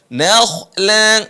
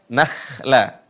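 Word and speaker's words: نخلا: zaitunan wa nakakhla waakhla perhatikan huruf ko dibaca tebal nakhla Bukan dibaca nakhla dan bukan dibaca no juga sebagian teman-teman yang sudah mempelajari huruf atau istil pengucapan tebal di huruf kadang E kelewat ya atau melampui batas artinya apa yang tebal itu adalahnya bukan nunnya na tetap dibaca na Bukan no Nola Bukan no tapi na nak ahsantum jazakahir Barakallah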